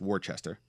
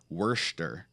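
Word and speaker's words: Worcester: here's my funny stories I went to a party knowing that it wasn't pronounced how it looks because it looks like it's pronounced Worchester or at least partly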